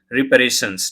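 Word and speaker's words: reparations: जैसे प्रिपरेशन होता है उसी तरह इसको प्रोनाउंस करेंगे रिपेरेशंस।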